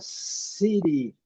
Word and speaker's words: city: Vamos para a palavra city. Olhem aqui. City, city. É o T com som de R, né? City. Alguns falam T com som de D também.